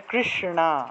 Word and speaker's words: কৃষ্ণা: এই যে কৃষ্ণা না জিউভাটাকে উল্টিয়ে উচ্চারণ করবেন হবে সাধারণত আমরা যে দন্তীয় টাকে যেভাবে উচ্চারণ করি ওইভাবে না দন্তন্য তো মনে করেন যে ন ন আর মূর্ধন্য এর উচ্চারণটা হলো না না মূর্ধন্য হলো জিহভা উল্টিয়ে মূর্ধা দিয়ে উচ্চারণ করতে হয় ঠিক আছে তাহলে কৃষ্ণা এভাবে উচ্চারণটা হবে তারপর মনে করেন